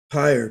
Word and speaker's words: Pyre: Pyre, capital P-Y-R, capital E, pronounced pyre as in funeral pyre.